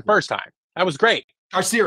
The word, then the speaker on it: Carcerem: Carcerum. Pronunciation.